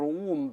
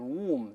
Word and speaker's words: womb: 你像子宫 womb w o m b，不能读 womb，要读 womb 就好了，等等等等啊。